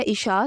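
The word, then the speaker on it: Isha: के मानी है मुबारकबाद देने वाली नाम है इशा स्पेलिंग है आई एस एच ए इशा नाम के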